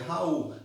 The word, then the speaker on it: Raoult: Ó, Raoult, pronuncia Raoult, em homenagem ao francês François-Marie Raoult.